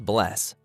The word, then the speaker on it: bless: hello and Icelandic is pronounced Hollow thank you is talk yes is yah no is nay goodbye is bless 14.